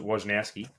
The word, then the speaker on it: Wojnarowski: the tweets, breaks all the announcements in NBA, Wojnarowski or however you say his name. Yeah, Wojnarowski.